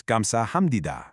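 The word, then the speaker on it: 감사합니다: The correct answer is gamsahamnida. Excellent work remembering how that P turns into an M sound.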